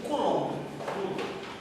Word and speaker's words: Coulomb: Como se pronuncia? Coulomb.